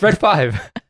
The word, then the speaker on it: R3D5: Just say it right. It's Red 5.